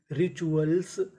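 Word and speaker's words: rituals: RI री, TUAL चुअल, और आखिरी में S लगा है। तो मीनिंग क्या बनी, रिचुअल्स, रिचुअल्स।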